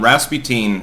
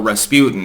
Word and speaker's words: Rasputin: thank you for that, about my thoughts on Rasputin, or Rasputin.